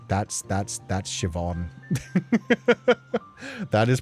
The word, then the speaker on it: Siobhan: Yeah, it's that's that's that's Siobhan. That is pronounced as Siobhan.